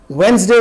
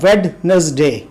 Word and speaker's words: Wednesday: Saturday को हमारे यहाँ बहुत से लोग सैचरडे बोलते हैं और वेंसडे को बोलते हैं वेडनेसडे।